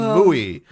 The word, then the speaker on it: Mui: witches, Andromeda, Lilith, and Mui. It's a big deal that M-U-I is, yes, M-U-I is how you spell that.